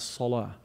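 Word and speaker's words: صلاة: And interestingly, the word prayer in Arabic is pronounced as salah.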